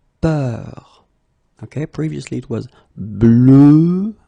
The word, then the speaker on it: peur: have a little bit the same, but it's a bit lighter, more open, and it's peur. Okay, previously it was bleu, so really, really deep, bleu. This one is more open and it's peur, okay, peur.